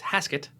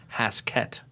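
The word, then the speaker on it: Haskett: name the other day it's hasket not in fact haset I did like a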